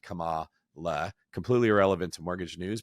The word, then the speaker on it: Kamala: I just didn't know where the accent was because I've heard it said both ways, but it is Kamala, not Kamala.